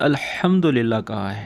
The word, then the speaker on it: Alhamdulillah: Alhamdulillah is correct, that is, from here you have to show 'Ha' so that it can be known that you have said Alhamdulillah.